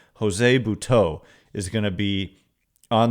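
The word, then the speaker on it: Buttó: I was confused because there's an accent over the O at the end, but they said it's BH, but it's Bhau. Jose Bhau is going to be on the Giants roster tonight facing his former team.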